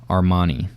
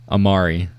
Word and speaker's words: Amari: Armani. Oh, I'm saying his first... Oh, I'm saying his first name wrong. Amari. I've been calling him Armani this whole time.